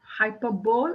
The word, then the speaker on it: hyperbole: opposite that will be oxymoron next one hyperbole Hyperbole and Adam but the correct pronunciation is hyperbole hyperbole is exaggeration exaggerating the